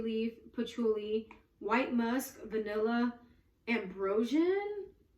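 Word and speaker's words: Ambroxan: The base notes are Indonesian patchouli leaf, patchouli, white musk, vanilla, ambrosian. It's spelled with an X, and that's why I think it's pronounced like a Z.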